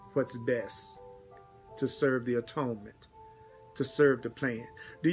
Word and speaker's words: atonement: how to serve the atonement. And the atonement, what is the atonement? The atonement, and some people pronounce it at-one-ment, but it's really the atonement, is the uplifting of the whole sonship.